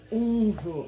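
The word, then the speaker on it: Wunjo: E daí a runa fecha com chave de ouro, porque essa runa a pronúncia é unjo, mas se escreve vunjo, foi como eu li antes para vocês.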